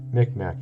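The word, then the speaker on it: Mi'kmaq: this is the is this is this a mcmac mcmuck how do you say it i think it's uh i'm trying to remember the tribe's name oh yeah here we go mcmack this is who it is mcmack tribe these guys their letters or hieroglyphs are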